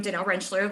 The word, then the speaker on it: Danelle Rentschler: I am Danelle Rentschler, like Allison said, and you pronounced it right.